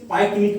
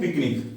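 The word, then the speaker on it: pyknic: तीसरा बताया पिकनिक, जिसे पाइकनिक भी कहते हैं, ये सही उच्चारण है पिकनिक, ठीक है।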